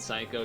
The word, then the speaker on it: psycho: You don't say P and psycho.